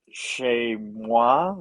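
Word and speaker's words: chezmoi: awesome and you're going to be talking about shay moi is that correct yeah you got the pronunciation i have no idea what that is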